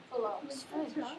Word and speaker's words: Fallot: I thought it was phallic, Blue. Fallot.